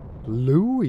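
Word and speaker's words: Louie: Louis, you have to say it like that.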